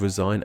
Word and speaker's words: resign: As a verb, the G in resign is silent, while as the noun resignation, the G is not silent.